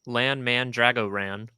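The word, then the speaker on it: Lan Mandragoran: glad it's not alone it should be pronounced lan man drago ran but monkey or swagger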